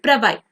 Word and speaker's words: Bravais: So while I searched over Google, I got to know that the pronunciation is actually Bravais. The S is silent.